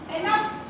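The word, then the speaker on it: enough: जी एच इस वि जी एच की आवा एनफ ये बन एनफ दूसरा है बन र आर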